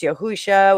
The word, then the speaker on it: Yahusha: No, I'm not even It' be Yahusha if you're based on PaleoHebrew if you're actually pronouncing it right. It's Yahusha, which actually, I mean, when it works out, it's almost closer to uh Joshua.